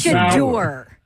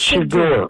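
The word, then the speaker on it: Shedeur: How do you pronounce his name? That is completely disrespectful. His name is Shador. It's Shador.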